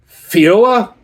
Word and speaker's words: feijoa: And so this beer here is a sour ale with I don't know if I'm going to pronounce this correctly. Fioa pineapple and strawberry.